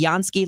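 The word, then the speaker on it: Jansky: The Yansky Law Firm can help you with all of that. It is spelled Jan Ky.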